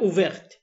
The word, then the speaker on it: ouverte: وحطينا الـ E هتبقى ouverte. من غير الـ E هننطق لحد الـ R بس، تبقى ouvert.